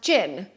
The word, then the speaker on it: Jean: the smaller one is called Jean but it is always pronounced Jin not a prononciation very